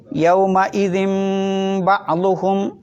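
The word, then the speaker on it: يومئذ بعضهم: ഇൻ എന്ന നൂനിൻ്റെ ശബ്ദത്തെ എന്ന പിന്നെ മീമിൻ്റെ ശബ്ദമാക്കി മാറ്റണം. അപ്പോൾ ഓതേണ്ടത് യൗമ ഇദിൻ ബഅളുഹും, യൗമ ഇദിൻ ബഅളുഹും.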